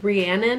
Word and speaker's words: Rhiannon: Rhiannon, I think is how you say her name.